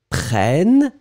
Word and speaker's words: prennent: Because when you've got and then double N right after, double consonant, it will open the sound of the E. So you'll pronounce prenne, E. So remember, so nous prenons E because only one N. Vous prenez E because only one N. Ils prennent E because you get two N's.